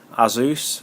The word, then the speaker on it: Asus: V formula from um Asus or azus as I've heard some people pronounce it uh Republican gamers of course